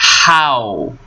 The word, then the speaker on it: how: solta ele com tudo é este som que nós usamos para pronunciar o h aqui how how e não How não é R é How OK depois nós temos